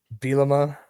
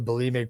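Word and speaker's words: Bielema: Bimma. It's close to Bimic, but he is definitely not Bimic.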